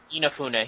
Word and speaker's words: Inafune: the Mega Man franchise to go back to inafune um I am I pronouncing that right by the way yeah yeah Ena yeah inafune yeah I was worried there but I'd love